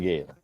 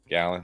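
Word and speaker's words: Gallen: Gallon. All right, whatever. You know me. I always get the names wrong. Well, it doesn't look like a gallon, but it is.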